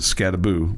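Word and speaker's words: Skattebo: uh Cam scabo and that's how you pronounce it scabo like a go okay like Casper the ghost boo you know scaboo okay just trying to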